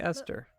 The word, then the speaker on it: Esther: to say her name so it's basically Esther Miss the drippy says the disaster the H would make it not sound like Esther wow huh doing all